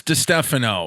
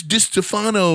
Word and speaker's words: Distefano: wanted I don't wanna say it wrong Chris de Stefano this Stefano lady's number Chris de Stefano Chris